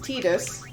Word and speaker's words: Tidus: I grew up pronouncing it Tidus. I feel like most Americans and probably Europeans as well would probably say Tidus, but supposedly it is actually pronounced Tidus. Right. The developers have confirmed that lore-wise it is pronounced Tidus.